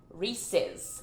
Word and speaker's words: Reese's: Reese's.